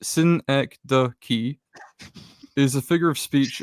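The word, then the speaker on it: synecdoche: of me um okay syn the key pronounced Sy the key is a figure of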